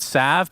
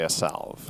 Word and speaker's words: salve: that isn't the tango a salve yeah it's salve no so are we going to start pronouncing it Sav because it's the technical correct way to say it sure you can also